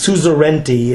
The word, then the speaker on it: suzerainty: I believe it's pronounced suzerainty.